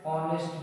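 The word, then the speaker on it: honest: हो जाएगा क र है ही is dash ऑनेस्ट मैन तो इसको ऑनेस्ट मैन बोलेंगे यानी ईमानदार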